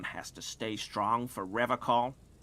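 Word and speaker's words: Revachol: stay strong for revocal he pronounces with a hard K unlike other people you said River Cole uh uh sure I like to pronounce it the hard way the old way the Vesper time way solemnly he Winks at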